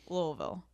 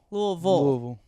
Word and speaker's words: Louisville: Louisville?